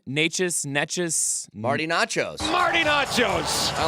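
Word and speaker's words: Nečas: This is how you say his name. Marty Nachos.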